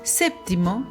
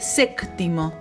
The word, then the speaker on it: séptimo: En vez de decir séptimo, por ejemplo, decía séctimo, y en vez de fuiste, a veces se le escapaba fuistes.